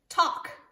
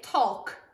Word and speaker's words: talk: know if there's two words this one says talk it looks like it would say talk but we just say talk t-a-l-k talk talk